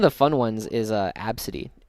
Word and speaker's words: Abcde: fun ones is uh absity spelled abcde e absity.